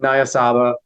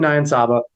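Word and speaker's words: Niyonsaba: meet record from francine nyasaba nayan saba sorry i mispronounced your name francine nyan saba but for americans well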